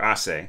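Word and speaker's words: assez: so but asses or assay there's you don't pronounce the zed is it doesn't mean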